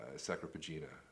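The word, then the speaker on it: Sacra Pagina: And even what's the one, the Catholic commentary, the Harrington and Sacropagina, right?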